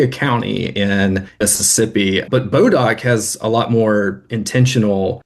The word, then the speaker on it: Bodock: So that name that pronunciation bodark eventually came bodark. I've seen that spelling and that pronunciation as well but we in Mississippi or at least in north Mississippi always heard it called Bodok.